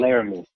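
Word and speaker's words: Laremy: they just traded for, was it Jeremy Tunsil? Is that how you say his name? Laramie, I think. Laramie. Oh, Laramie.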